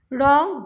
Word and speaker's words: wrong: Wrong, W is silent.